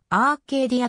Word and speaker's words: Arcadia: となっているなお英語でのアルカディアの発音はアーケイディアとなる当時韓国国内最大